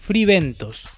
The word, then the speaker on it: Fray Bentos: British clamored for meat "fribentos" (pronunciation of some Anglo-Saxons of the Fray Bentos brand ) World War II